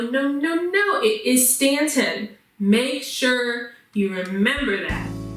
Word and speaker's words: Staunton: So, Staunton Underground Comics and Zine Fest is an event that was happening in Staunton, Virginia. The U is silent, okay? It is not Staunton. No, no, no, no. It is Staunton.